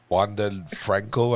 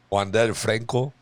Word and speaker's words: Wander Franco: think is his name Juan Del Franco ah there you go I think I said it right I'm trying to say what I call them wander Franco yeah I didn't want to say the English way but he's um got